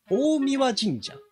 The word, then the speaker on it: 大神: ほどねらてもこう神神社らしい大神神社大神って読むんだへー選べたら